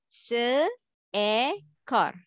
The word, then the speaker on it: seekor: Actually, they have a three syllable. Circle. Because the only, yes, I have to put the symbol I want to help you how to pronounce it. Se-e-kor.